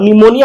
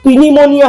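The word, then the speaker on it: pneumonia: हम बोले तो निमोनिया बने लिखो साहब, ये तो पीनीमोनिया है। बोला नहीं इसे पी साइलेंट।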